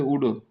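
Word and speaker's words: would: जैसे कुड वैसे वुड same चीज मतलब वो कुड है ये वुड है। यहां पर भी एल साइलेंट है।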